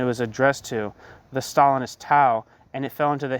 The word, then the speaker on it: Tao: addressed to, the Stalinist Tao, and it fell into the hands of another Tao. See, I'm mispronouncing the name. The Stalinist Tao, T-A-O, and it fell into the hands of Tao, T-A-U, a Trotskyist.